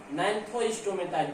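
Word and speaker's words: Gnathostomata: Mixing अब दूसरा उपसंघ है नैंथोस्टोमेटा। जी साइलेंट है इसमें, जैसे टेट्रोफाइटा में पी साइलेंट होता है।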